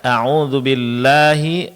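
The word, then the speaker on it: أعوذ بالله: Auzubillahi ya auzubillahi asyaitani. Di sini masing-masing madnya dipanjangkan dua harakat. Jadi auzubillahi jangan auzubillahiminasyaitani. Ini agak lebih dari dua harakat. Jadi dikurangi lagi. Auzubillahi minasyaitani.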